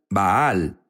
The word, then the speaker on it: Baal: Unos dicen Baal, Baal es la pronunciación correcta.